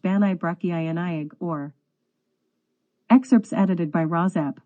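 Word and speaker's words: Bannau Brycheiniog: national park will adopt the Welsh name of benell burkiniak National Park pronounced banay brachiyani or excerpts edited by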